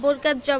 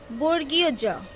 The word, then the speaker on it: বর্গীয় জ: অনেকে বর্গার জ বলো, এটা সঠিক উচ্চারণ হচ্ছে বর্গীয় জ।